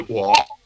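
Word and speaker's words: 我: y en chino se escribe uo, se dice wo, se escribe así.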